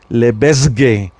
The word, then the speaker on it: Lebesgue: Lebesgue. La S no la pronuncian. En este caso, no se pronuncian el nombre de este señor, es Lebesgue.